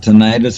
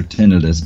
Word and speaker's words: tinnitus: in the air something you can pronounce it tinnitus or tinnitus both are correct your ears will ring